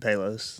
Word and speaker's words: Palos: Palos. Palos.